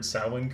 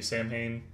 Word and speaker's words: Samhain: halloween franchise that pronounces the word samwin correctly um every other time it's used they say samhain because i guess they couldn't bother looking up how to pronounce this word they just did it phonetically and just assumed that that's how it was um yeah so there's